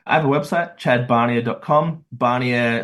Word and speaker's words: Barnier: Barnier, spelled like Garnier Fructis, but with a B.